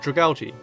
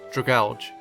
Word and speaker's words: Dragalge: But it turns out that dragalgi is the correct pronunciation since his name is a combination of dragon and algae.